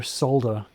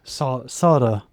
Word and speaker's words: solder: Next step is to solder or as a lot of Americans say, solder. Solder. I pronounce the L in it because there's an L in it and there's an L in it.